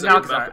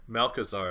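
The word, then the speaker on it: Malchezaar: Malchazar. I don't know the two pronunciations. I think it's a hard CH. I think it's Malchazar. For sure? Malchazar.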